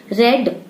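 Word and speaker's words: read: है हैज लिखा है रेड रीड का थर्ड फॉर्म होता है रेड स्पेलिंग सेम होती है रीड का जो है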